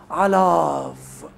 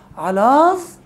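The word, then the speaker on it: עָלָיו: طب لماذا لا ننطق اليود؟ لانها في وسط الكلمه وبدون حركه، واحنا اتفقنا الحروف الضعيفه ايوه اللي هي الالف واليود والفاف والهاء اذا جاءت في وسط الكلمه بدون حركه تصبح صامتة زيب زليب، تشد السوست على الشفايف ما تتنطقش. لكن الفاف جاءت في آخر اللفظ، والفاف مؤشر على الضم، سبقها فتح، يبقى لازم تتنطق.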